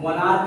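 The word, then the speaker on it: monarch: जैसे यहाँ पे देखो मोनार्क कहते हैं, क्या है, मोनार्क है। अब यहाँ पे सी एच तो है लेकिन ये किसका उच्चारण निकल रहा है, क का, तो यहाँ पे भी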